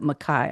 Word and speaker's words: McKay: It spells it McKay, but it pronounces it Mai.